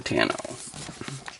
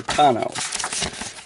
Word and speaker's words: Tano: miniatures and starfighter aces ahsoka tano or tono whichever way you prefer to pronounce it yeah so we go